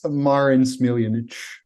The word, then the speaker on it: Marin Smiljanic: Okay, you get one shot at this, so please tell us the real pronunciation. It's Marin Smiljanic.